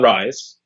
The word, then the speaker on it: Rhise: And this is about a young man named Leon Rhise. The H is silent, of course.